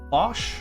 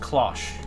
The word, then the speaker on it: cloche: I think it's pronounced cloche. It's definitely a British word. I was talking to, what does he go by now? Crab Lord? I think he verified it's cloche for me.